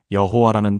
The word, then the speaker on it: 여호와: 그래서 하나님 이름의 자음에 아도나이의 모음을 합쳐서 여호와라는 발음을 만들어 낸 겁니다. 여러분, 이게 무슨 뜻인지 아시겠습니까? 여호와는 원래 이름이 아니라 두 단어가 합쳐진 혼합 발음이었던 겁니다.